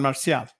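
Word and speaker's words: Marcial: with an m San Marcia Marcel m-a-r-c-i-a-l they all pronounce it Marshall Marshall right but it's Marcia that's his Spanish name okay so yeah um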